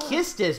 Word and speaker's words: Quistis: quest this again get supposed to be pronounced kisses but it's done with a cute you like kissed us QE or quistis sixth if we see